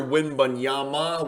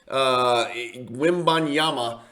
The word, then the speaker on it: Wembanyama: If you don't know the name, first and foremost, everybody's mispronouncing his name. Victor Wembanyama with an M at the end. The last consonant's an M, not an N. He's not Hispanic. Wembanyama.